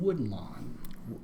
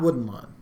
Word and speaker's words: Woodlawn: The nominees were Captive, Beyond the Mask, Old Fashioned, War Room, and Woodlawn. Not Wooden Lawn. Woodlawn. Woodlawn. Wood. Quit pronouncing your D's, dude.